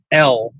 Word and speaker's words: El: It It's It's It's pronounced um um El, but you know, the the the word Elai in Hebrew means fallen angel.